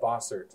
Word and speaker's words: Bossert: Did I pronounce that right? It's Bossert? Yeah, Bossert.